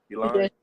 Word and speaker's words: Elan: Elan.